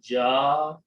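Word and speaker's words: جاء: This will sound like an alif, so it will become ja. Ja means he came or it came. And because of this hamza, you have to pronounce long.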